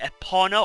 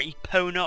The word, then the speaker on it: Epona: called link the horse is Link's horse called Epona or Epona or however you want to pronounce it those two fairies are new to